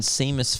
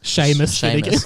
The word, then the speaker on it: Seamus: still and quiet ron weasley hermione granger and seamus finnegan sheamus oh i never read that right are you